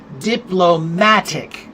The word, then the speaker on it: diplomatic: Or uh diplomatic. Diplomatic. That's on the third syllable.